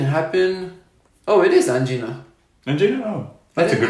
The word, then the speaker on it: angina: Angina? Oh, that's a good pronunciation, yeah.